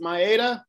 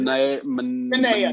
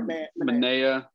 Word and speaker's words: Manaea: They traded is it Maeda? Is that how you say it? Manaea. Sorry, Manaea.